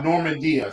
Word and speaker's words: Normandia: So he put Norman plus D-I, Normandia.